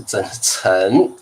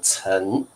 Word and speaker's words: 曾: 第一个词汇不是曾，好，这个老师，各位同学注意它的 pronunciation，注意它的发音，它是念曾。